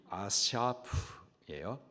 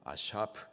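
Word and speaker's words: אָסַף: 여기 본문에서 이삭이 그의 열조에게로 돌아갔다라고 할 때, 여기 돌아갔다라는 단어의 히브리식 발음이 아샤프예요. 아샤프.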